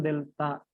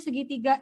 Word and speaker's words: delta: Jika pertambahan panjang delta X. Delta ya Bu, segitiga Bu. Iya, yang segitiga itu delta bacanya. Jangan kayak kelas sebelah ya, itu bilangnya segitiga katanya. Kurang bagus itu ya.